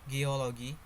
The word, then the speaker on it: geology: Geology. Base word geo. Derived word geology. Suffix ology. For explanation, the suffix ology strongly attracts stress, causing the stress to fall before the suffix rather than the root.